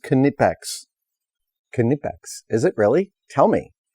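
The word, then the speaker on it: Knipex: seen by nipex but he's actually saying that's pronounced canipex is it really tell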